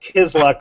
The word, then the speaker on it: Kizluck: Anyway, it's pr It's pronounced kizluck, but it's like, where is the luck?